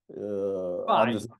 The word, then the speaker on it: phi: F, like Greek F, capital. What? Phi. Yeah, phi. Yeah.